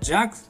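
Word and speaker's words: jug: 次はジョッキです弱と発音するのが正しいのですが日本ではジョッキと言いますねビールジョッキが最も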